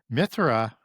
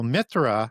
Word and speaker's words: Mithra: So Mithra and we pronounce that with a TH. The old Sanskrit Indo-Aryan would be no sound to the H. Mithra. Okay. So Mithra Mithraism is one of the main gods of Zoroastrianism.